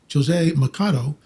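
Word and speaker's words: José Machado: And the reason why we know that is um a professor of semiotics, Jose Mcado, which that's how you pronounce his name in Portuguese, not Jose, but Jose Machado um was a professor of semiotics.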